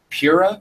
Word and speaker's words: Pyrrha: frame job was great Pyrrha Pyrrha I want to call her Pyrrha so bad um this is spelled right it's dawn right it's Pyrrha that looks like pirate um John when he